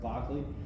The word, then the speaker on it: Berkeley: loch barkley that's belt berkeley pronounced barclay and hugh so these